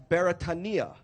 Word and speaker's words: Beretania: But Beretania is actually a Hawaiian word, and being a Hawaiian word, it is pronounced properly as Beretania.